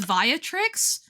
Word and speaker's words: Viatrix: I think Via sounds cool, but I imagine though that it's meant to be pronounced Viatrix.